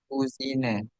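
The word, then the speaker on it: Cousine: kusine. Kalau laki-laki kuzang bacanya, ya tadi.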